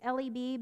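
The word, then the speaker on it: לב: is actually the word I think it's pronounced laughs it's it's leb but I'm just gonna say laughs and which actually is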